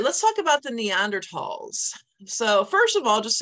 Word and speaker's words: Neanderthal: hear them called the Neanderthals so the reason it's pronounced Neanderthal is because it's a German word and the th makes